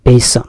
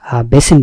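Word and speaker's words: basin: মৌলিক বুনিয়াদি বেসিন নাকি বেসন এই যে আমরা বেসিন ব্যবহার করি বেসিন বলে আসলে উচ্চারণটা বেসন বেসন মানে হচ্ছে খোলাপাত্র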